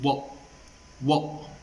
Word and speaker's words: what: En vez de decir what, dice what. Al final no pronuncia la T.